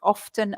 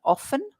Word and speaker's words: often: There are two pronunciations, often and often.